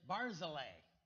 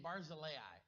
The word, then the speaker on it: Barzillai: I always pronounce that guy's name Barzillai. Are any of you familiar? You've read this name in the past? Barzillai is how I pronounce it. But then I saw one of the pronunciation guides that said Barzillai. So I've been calling him Barzillai.